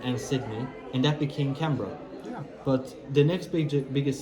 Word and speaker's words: Canberra: The capital city being Canberra, or Canberra, if you would not know how to pronounce it, Yeah. or Canberra if you're Australian, which is located around here, in the middle of Melbourne and Sydney.